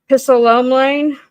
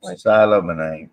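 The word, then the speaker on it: psilomelane: Pissolomlane. Because, God, if you take out the P, that would be great. It would be. How do you say that? Silomonane. It is silent.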